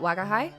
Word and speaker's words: Wagahai: Oh, is is is do I pronounce that? Wagahai.